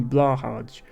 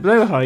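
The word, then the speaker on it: Blåhaj: roughly how it's pronounced it's a more accurate pronunciation than blah hardge which is what English people tend to say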